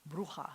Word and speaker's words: Bruja: Or as they say, the Ashkenazic pronunciation, they always say brucha. It sounds like a Spanish witch. Bruja is a Spanish witch.